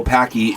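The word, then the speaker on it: Paqui: Is that how you pronounce it? Yes. P-A-Q-U-I. Packy.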